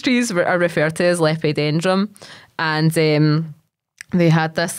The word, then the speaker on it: Lepidodendron: Lepidodendron, that's it. Lepidodendron, I got it. See, it just takes a few saying it in my head and then I know. So these trees are referred to as Lepidodendron, and they had this like kind of outer